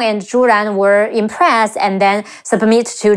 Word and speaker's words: Zhu Ran: Sheng, Xu Sheng, and Zhu Ran, Zhi Wu Zhu, Zhi An Ran, Zhu Ran.